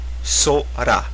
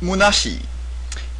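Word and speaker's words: 空: So one pronunciation is sora, which means the sky. This is in kun reading.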